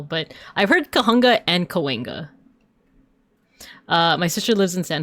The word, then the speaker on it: Cahuenga: So there's different ways. There's Kahunga. I've heard locals say Kahunga, Cahuenga. But it's actually indigenous. It's actually, I think it's either Tongva or Tataviam or Chumash. And I think they would have pronounced it as like Kahugna, like the G first and then the N. Like I'll spell it out in chat. Kahugna.